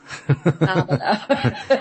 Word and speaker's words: Barbelo: I say Barbelo, but that's American, and Barbelo, I like that. Barbelo appears. Barbelo. Barbelo. Like bar and below. Below the bar.